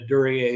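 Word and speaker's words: Duryée: Is it durier? Is that how you pronounce that?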